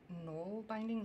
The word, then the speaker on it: nalbinding: how my mouth works I've heard that to say it it's more like no binding like like there's an ol